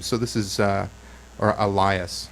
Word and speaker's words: Elias: this is uh or Elias I always pronounce that incorrectly because it looks like Alias so this yeah this is Elias with tracing circuits here